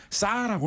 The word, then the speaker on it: SAR: 지금 우리나라 42호 사업 같은 경우에는이 SAR 그다음에 EO 두 가지 방식 다 올라와 있는데 우리나라 업계에서는이 SAR이라는 레이더를 그냥 발음을 그대로 읽어 가지고 싸라고 많이 부릅니다.